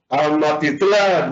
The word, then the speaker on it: Amatitlán: Amatitlán, ¿dónde está la sílaba tónica? Tlán.